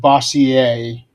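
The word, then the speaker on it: Bossier: Actually, I think that's pronounced Bosier. Bosier. Yeah, because it's it's supposed to be French.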